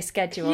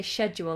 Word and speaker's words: schedule: You say schedule. Yeah, a schedule. Yeah, we say schedule like a shed in the back garden.